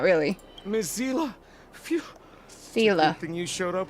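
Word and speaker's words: Seele: Miss Zila, good thing you showed up when you did. My heartfelt thanks. Thank goodness I finally found out how to pronounce her name. It's Sila.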